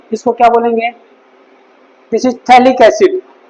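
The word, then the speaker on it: phthalic acid: क्या बोलेंगे, this is थैलिक एसिड। पीएच होता है silent, थैलिक एसिड, okay, थैलिक एसिड।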